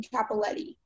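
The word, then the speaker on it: Cappelletti: Are there any alternate pronunciations? Just the one, Capoletti.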